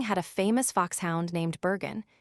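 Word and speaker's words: Burgoyne: Nutting had a famous foxhound named Bergen, he pronounced it Bugen, which my informant used to borrow.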